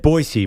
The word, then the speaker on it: Boise: Morning Show in boisey I'm glad you said boisey Maggie because that's how us natives say it you're not from boisey